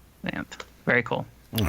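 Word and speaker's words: Xanth: Spelled with an X. X an H. Zanth.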